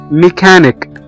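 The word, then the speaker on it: mechanic: لما بيكونوا في وسط الكلام او في اخر الكلام، يعني في حالة ان هم في اول الكلام بنقول تش، لكن لو هما في وسط الكلام او في اخر الكلام بننطقهم كي او حرف الكاف، زي كلمة ميكانيك ميكانيك ميكانيك ميكانيك او ميكانيكي.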